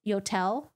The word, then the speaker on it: Yotel: Yodels rhymes with hotels. Yotel.